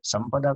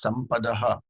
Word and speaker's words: Sampadah: Sampada kahan se aaya? It is Sampadaha.